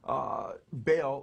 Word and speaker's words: Baal: And then Baal, or he says Bel, B-E-L, or Baal, he spells it B-A-A-L, how